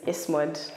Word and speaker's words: ESMOD: How do we pronounce that? You know, the short form is ESMOD.